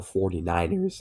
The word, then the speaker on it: 49ers: We have the Arizona Cardinals taking on the San Francisco 4ers or 49ers. That's what they're actually pronounced.